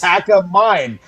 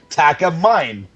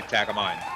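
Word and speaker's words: Takamine: Look, it's spelled T A K A M I N E. Yes. Tack a mine. Tack a mine.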